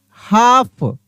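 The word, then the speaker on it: half: हाफ, यहां पे पढ़ रहे हैं हाफ, कैसे पढ़ रहे हैं, हाफ। एच ए एल एफ को हाफ पढ़ते हैं, यहाँ एल साइलेंट रहता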